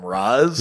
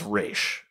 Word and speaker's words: Ra's: don't know yeah I I am convinced the pronunciation is raysh based on based on it's cooler I feel like I've read something somewhere that was like that's closer to like what an Arabic pronunciation would be I could be deeply